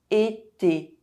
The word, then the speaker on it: été: je I le the E is pronounced if it has an accent. été summer fatigué tired How do you say this word?